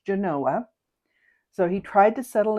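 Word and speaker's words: Genoa: people in other parts of the world would pronounce it Genanoa but in Nevada it is pronounced Genanoa.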